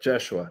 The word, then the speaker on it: Yeshua: Somebody says, "Yeshua, not Jesus." All right, Yeshua. Yeshua. Or Yeshua, thank you. No J. It's There's no J.